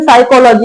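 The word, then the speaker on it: psychology: जैसे साइकोलॉजी हिंदी में मतलब बोलते थे इंग्लिश में साइकोलॉजी।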